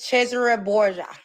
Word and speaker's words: Cesare Borgia: I'm saying you should care about Caesar Borgia. That how you say his name? Caesar. His name is Cesare Borgia.